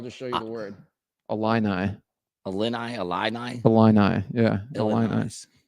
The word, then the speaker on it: Illini: Yeah, Illini. The fight in Illini. An Illini? Illini. Yeah, I couldn't spell it, but yeah, you know, like the only reason I know that.